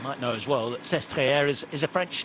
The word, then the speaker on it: Sestriere: You might know as well that Sestriere is a French name. Pronounced in the French way rather than the Italian.